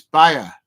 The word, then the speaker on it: Bayer: you pronounce Byron Munich but it's not it's Bayer it's bi leusen it's pronounced differently B andless somebody's done a typo